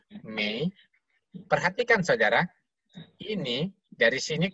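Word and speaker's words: 美: Bacanya Mei.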